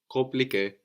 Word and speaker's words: compliqué: Like in confirmer or compare, compliqué. We don't say compliqué, no? The M is kind of swallowed into the vowel before.